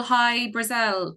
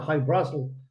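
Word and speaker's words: High-Brasil: How do you say it? How do you pronounce it properly? I know I'm not pronouncing it properly. High Brazil, they tend to call High it. Brazil. Yeah, it's Irish. You follow I-E, Brazil. But Brazil. High Brazil is fine.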